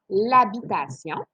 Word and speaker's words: habitation: Alors ici, tu as habitation, c'est un H qui est muet, donc tu peux faire l'illusion, ça deviendrait l'habitation.